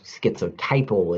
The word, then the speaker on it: schizotypal: first coined by this guy in 1956 so schizotypal is how i've decided is the correct way to pronounce the disorder he calls it a schizophrenic